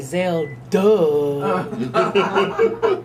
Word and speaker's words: Zelda: So to help the listeners understand or pronounce my name, he would say Zelda. And I was like, Richard, why do you say that? He said, because a lot of times people don't get the D, they hear the M.